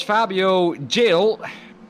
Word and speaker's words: Fabio Gil: And it was Fabio Gil, pronounced that correctly this time round, who qualified in 8th but has dropped down 3 positions from his starting position.